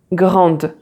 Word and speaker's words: grande: So every time you see this letter at the end of a word, it's never pronounced and you stop at the letter before, like petite, grande. So you pronounce the T and you pronounce the D, but not the E.